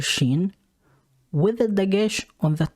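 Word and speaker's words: ש: s h and when the letter sheen comes with a dagesh on the top left of it it makes the sound of the letter s you can also call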